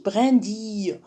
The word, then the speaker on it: brindille: déjà برندي ما نقولوش برنديل. on prononce ici brindille.